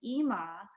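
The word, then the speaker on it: אמא: emma is spelled but in hebrew there's a hebrew word and we say ima yeah his mother name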